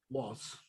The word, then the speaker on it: Wolz: It's John Walsh or Walls? Waltz. I'll spell that Walsh.